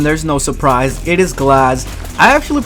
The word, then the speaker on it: Glaz: At number 1, there's no surprise, it is Glaz. I actually pronounce it Glaze as a meme.